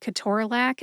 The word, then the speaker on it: ketorolac: I divided Ke-TOR-a-LAC and Toradol into syllables. We talked about which syllables to emphasize, and then I shared my sources.